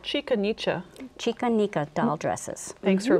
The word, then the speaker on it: Chica Nica: Chicanica doll dresses. Thanks mm-hmm. for pronouncing it correctly.